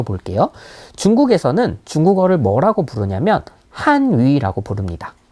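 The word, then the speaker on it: 汉语: 들어가는지 한번 맞춰 볼게요 중국에서는 중국어를 뭐라고 부르냐는 한 위라고 부릅니다 어 중국어 발음으로 론 한 위라고 얘기를 하거든요 같이 한번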